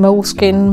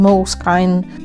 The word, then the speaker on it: Moleskine: mostly themselves say that there's no correct pronunciation as while being an italian-based company moleskin is a brand with undefined joined national identity end of quote so you can call them moleskin Moleskine molar skin whatever you want all right so